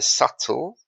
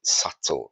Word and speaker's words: subtle: by the way there subtle uh the B is silent subtle it just means things